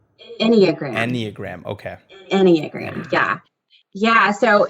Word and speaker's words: enneagram: practitioner that you are today and if i'm pronouncing that right it's called anagram enneagram okay enneagram yeah yeah so that is this